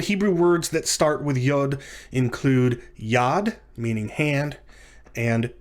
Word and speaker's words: yod: the letter yod yod yod is pronounced like the letter y in the english words yes and yellow and yesterday for which reason it